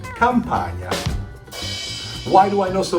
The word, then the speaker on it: Campagna: The GN sounds a little hard for America, but Italians pronounce it gnocchi. Just like you say lasagna, or my last name, Campagna.